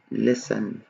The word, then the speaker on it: listen: لاحظوا هون حطيت لكم التي بالأحمر لأنه هون تكتب ولا تلفظ listen، ما بقول listen، listen. التي تكتب ولا تلفظ، بسموها تي ساكني، تمام؟